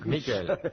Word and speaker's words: Michael: Michael. Michael.